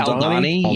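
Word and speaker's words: Aldhani: Jeff, how do you pronounce that one planet that Cassian went to? Aldani. Where there's the is it Aldani?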